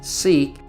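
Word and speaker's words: Siq: a narrow crevice called the sick or pronounced seek which winds for about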